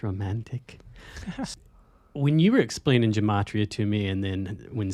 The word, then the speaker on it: gematria: Real quick, just to explain a little synopsis of gematria, or I think it's pronounced gematria.